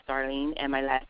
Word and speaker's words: Darleen: my name is spelled D is in David a r Len that's darling and my last name